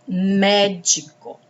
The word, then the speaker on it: médico: A próxima palavra, médico. Médico. A sílaba tônica é mé, que está acentuada.